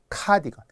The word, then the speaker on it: 카디건: 자, 카디건이에요. 이것도 카디건이라고 많이 하는데 스펠링 CA로 시작하는 카디건.